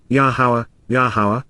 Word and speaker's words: Yahowah: Because indeed, KY, for the express reason, on behalf of, La, during the approach of, Yahowah, the proper pronunciation of the name of Eloah, God has directed in